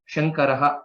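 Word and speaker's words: शङ्करः: So it is not sa, it is sha, shankaraha, shambhuhu.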